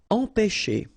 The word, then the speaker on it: empêcher: Okay, remember accent circumflex on the top of E here goes like E. Alright, nasal here, en, pe, and then you've got this CH and it produces this sh sound.